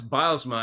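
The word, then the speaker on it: Bylsma: Well, it's Bilesma. And I asked him that. That's the first thing I asked him uh when I met him for the first time. He said it's bilesma like like tiles.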